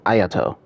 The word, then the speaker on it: Ayato: now it's Soo and ayato why do I say it like that aat it's aato there we go for